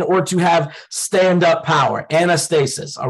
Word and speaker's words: anastasis: used in in Hebrews 6 is an estate anastasis on anastasis anastasis all right I'ma spell it out for you for the note takers